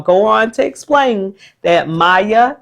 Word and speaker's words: Maya: So I'll go on to explain that Maya, your name has 2 syllables. Maya. That means you could hear 2 vowel sounds. Your first syllable is my, and your second syllable is and that's the A making that schwa sound or that lazy sound. And the schwa sound is not short like apple, and it's not the long A like A in cake.